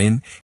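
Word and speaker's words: 円: de un kanji japonés llamado en japonés pronunciado como en que significa círculo o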